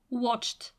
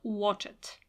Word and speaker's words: watched: add to the verb watched as pronunciation not watch it we speak on the